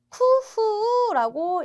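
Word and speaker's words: 工夫: 자, 이 사람이 이로이로 또 여러 가지로 쿠후라고 읽습니다. 쿠후.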